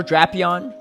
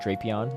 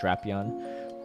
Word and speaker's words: Drapion: definitely not I haven't either all right Shadow drapion is unfortunately the correct pronunciation not drapion it's officially pronounced drapion for the Pokemon company which I hate too